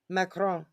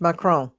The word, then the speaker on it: Macron: his name was again mcon macron mcon yeah it's French macron okay that this guy